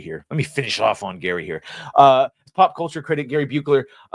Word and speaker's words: Buechler: Pop culture critic Gary Buechler. It says Buechler, but I know he pronounces it Viekler.